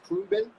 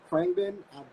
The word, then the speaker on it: Khruangbin: Like, like I don't know if I'm pronouncing it right. It's Krungbin or Krangbin.